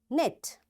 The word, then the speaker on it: knit: no, knife, knock, knot, knit, knob, knee, and knuckle, and knowledge. You see, in all these words, because K is there and right after K there is N, that's why this K is silent, right?